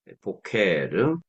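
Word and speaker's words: בֹּקֶר: 명사라고 부를 수가 있어요 보케르 세페르 멜렉 요런 꼴을 가지고 있잖아요 그런데이 세 명사의 공통점은 뭐냐면은 액센트가 맨 앞에 있다는 것이죠 왜 그러냐면이 세골 명사는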